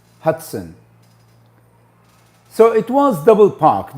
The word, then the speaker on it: Hudson: a rank in the army um david hudson hudson hudson not hatson hotzone hudson so it was double park double parked first